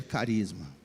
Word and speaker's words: carisma: no Grego é Carisma escreve com ch seria charisma mas a gente pronuncia Carisma na palavra Carisma está